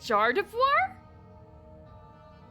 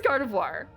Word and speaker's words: Gardevoir: But a soft gyardoir is Is it Jardivoir? Jardaprim. Is that how you're supposed to pronounce it? Jibbit. Okay. Jibbit. Are blue spruce actually blue? So So it is Gardevoir.